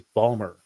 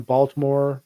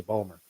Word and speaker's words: Baltimore: that City I well I say Baltimore but it is Balmer like I I've got friends from from Baltimore uh that will just say Balmer right it's like the